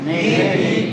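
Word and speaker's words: نیک: ভালো পারছি কি নিক নিক কারণ ই এর আগের অক্ষরে জিত থাকলে ই উচ্চারণ না তাহলে হবে নিক ই আছে এখানে নেট পড়ার কোন সুযোগ নাই প্যাচারে নিক এখন দেখেন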